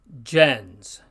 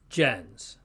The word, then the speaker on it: gens: means Nation we pronounce gens notice also the soft G sound with the G followed by an e and the S at the end is z like Jens there are also certain